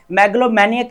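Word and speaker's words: megalomaniac: मैग्लोमैनियक इसकी प्रोनाउंसिएशन रहेगी यहाँ पर ताकत या खुद पसंदी का जुनून रखने वाला, आ पर्सन ऑब्सेस्ड विद पावर और सेल्फ इंपोर्टेंस।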